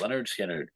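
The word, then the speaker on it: Lynyrd Skynyrd: uh Leonard skinnard uh the first album pronounced pronounced Leonard skinnard um great record um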